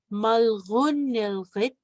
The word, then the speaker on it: malgunilrit: We have malgunilrit, malgunilrit. We have two of the G's with the dot, so you're going to pronounce it back here.